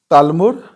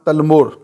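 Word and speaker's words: تالمود: پاس اگلا کویشچن ہے، تالمور یا تلمور کس قوم کی مذہبی کتاب کا نام ہے؟ یہ دونوں تلفظ درست ہیں، پہلا ہے تالمور اور دوسرا ہے تلمور، کس قوم کی مذہبی کتاب کا نام ہے؟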